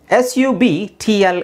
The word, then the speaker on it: subtle: the next one is s u b tle e how do you pronounce it obviously B is silent subtle subtle let's see